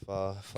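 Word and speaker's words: phở: sriracha in my pho. That'll do it. Like if I make my pho too spicy. Little jalapeno slabs in there. Pho for those who don't Pho.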